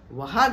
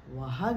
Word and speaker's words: वाघ: वेळा चुकीचा शब्द वापरतात वाघ वाघ काही जण म्हणतात वाघ आलाय तिकडे वाघ वाग नाही हो वाघ वाघ सिंह सिंह